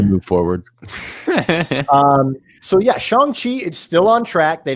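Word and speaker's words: Shang-Chi: about this next title we've been pronouncing it wrong the entire time yeah it's shanghi right yeah i feel everyone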